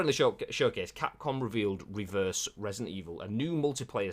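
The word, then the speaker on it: Re:Verse: I'm assuming that's applying the word reverse and you say it like that as opposed to R-reverse.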